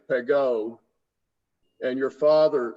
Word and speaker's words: Pegau: says or said Pegau, because the dialect in the Southern Rhone is that Pegau would be pronounced Pegau, but you have traveled the world and you speak it, you pronounce it the way they would in Paris, which would be Pegau.